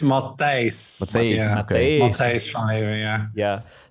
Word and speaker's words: Matthijs: And how do I pronounce the Matt? Is it Matthijs? Okay. Matthijs? Yeah, it's Matthijs. Matthijs.